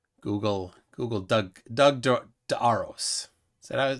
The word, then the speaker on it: DeArros: Google Doug DeArros. Is that how to say it? It was like DeArros. DeArros? That's the whole inspiration of the business name, was like follow DeArros, like the arrows.